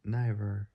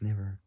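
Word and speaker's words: Niver: Mark Nyiver or Mark never I don't even know how you pronounce that spelled N I V E R. It's like saying river but taking out the R and putting N into it.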